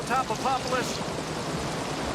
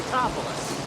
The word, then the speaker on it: Tatopoulos: They don't even pronounce his name right. Dr. Niko Tatopoulos. It's the Tatopoulos.